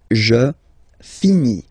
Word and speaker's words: finis: Je finis. Remember, final S is not pronounced. Je finis.